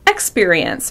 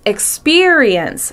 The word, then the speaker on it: experience: A longer example is the word experience. Some people stress the first syllable, experience, but it's experience. You want to make sure that syllable, experience, is longer, louder, and higher in pitch.